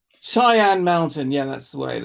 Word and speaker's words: Cheyenne Mountain: Cheyenne Mountain. Cheyenne Mountain.